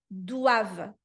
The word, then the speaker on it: doivent: O-I tem som de UA, tá? Uá. E não é aquele uá muito puxado. O uá é um uá mais direto. Uá. Doava. Doava. Doava. Nada de dó e vente. Isso não é francês.